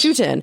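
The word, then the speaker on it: Schouten: it but it was illustrated by am I pronouncing his name correctly Peter shuen shoutin chutin yes chutin and it's just stunning these Natural History illustrations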